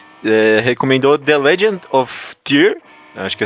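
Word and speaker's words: Tyr: a sugestão, eh, recomendou The Legend of Tier, acho que é assim que se pronuncia. Ele diz aqui que T R é TY R Tier.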